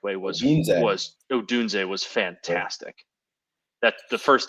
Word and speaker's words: Odunze: looking those up, Romo Dunza, I can never pronounce his name the correct way. Odunze was fantastic. That the first touchdown he scored, that route was just unbelievable. Yeah, between Marvin Harrison Jr., Keon Coleman, and Rome Odunze, just to name a few, it's a really,